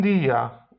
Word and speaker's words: día: Jeśli natomiast nad I jest akcent, czyli takie coś jak na polski przecinek wyglądające, to wtedy wydłuża się to jak IJ. Un día, un país.